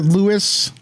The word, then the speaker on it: Luis: my face hopefully uh it's spelled Luis but I pronounce it Lewis 13 more likes and